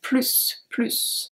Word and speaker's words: plus: Tu devrais étudier plus. Tu devrais étudier plus. You should study more. So here, plus, do you remember why we pronounce the S at the end?